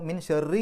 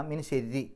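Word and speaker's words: مِن شَرِّ: രി എന്നുള്ള ഉച്ചാരണമാണ് കൊടുക്കുക അപ്പൊ മിൻ ഷെറി എന്നല്ല മിൻ ശരി മിൻ ശരി വസ്വാസിൽ ഹന്നാസ് അല്ലി യുവഫിസ്ഫി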